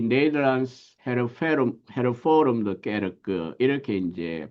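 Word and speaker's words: Hervormde Kerk: 1834년 국교회로부터 분리하여 이 네덜란드 헤르포름드 게르크 이렇게 이제 발음을 하게 되는데 이제 뭐 국교회란 표현보다는 네덜란드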